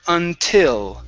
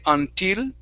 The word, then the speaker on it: until: okay so with your with your tongue okay instead of saying until okay move your tongue forward scoop it down and forward so instead of being back here and saying until okay move it up closer to your teeth in the front of your mouth until until there you